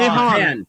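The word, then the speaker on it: 日本: Nihongo ni Nihon des.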